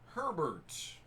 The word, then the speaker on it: Herbert: Herbert. Rhymes with Sherbert.